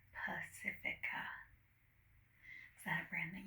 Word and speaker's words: Pacifica: Yeah, like the ocean but with an A at the end. Pacifica.